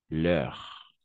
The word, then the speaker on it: leurs: Leur. Leur. Au niveau de la prononciation, on va prononcer de la même façon leur et leur.